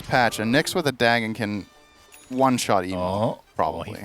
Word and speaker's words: Dagon: need to decide now is it Dagon or Dagan Dagon Dagon okay that's how I say it right say Deon